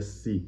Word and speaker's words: se: E a palavra em português, que se pronuncia si, mas se escreve se, pronunciá-la de um jeito mais espanholizado seria pronunciar se.